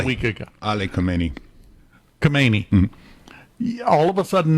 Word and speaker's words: Khamenei: Khamenei. Mm-hmm. All of a sudden now that's pronounced Hamani.